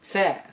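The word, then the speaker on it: ц: greek after that is this letter known as ser you may remember how the t is pronounced with the tongue to your front teeth well follow back with an s and you get this sound it's often rendered as ts but some systems of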